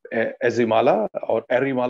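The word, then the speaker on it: Ezhimala: Now it is in Erimala, as it is correctly pronounced in Kerala.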